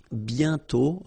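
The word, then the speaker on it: bientôt: And then the final T is not pronounced BTO.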